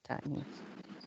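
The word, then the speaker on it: تأنيث: So this is what we call alta ta'nis. Yeah. Oh, Alta. Yeah. For this case, we call it ta'nis.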